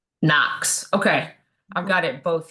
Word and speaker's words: NOx: Even though you're going to spell it out, you you should put in parentheses N O X because that is what everybody refers it to. Yes. To knock it outside. They they call it Knox. Knox.